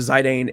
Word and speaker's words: Zidane: It's supposed to be Zidane, I do believe, but I say Zidane. I just like it more, and that's how I always said it.